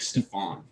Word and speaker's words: Stephan: It's Stephen, but it's spelled funny. Stephan, like Stefan.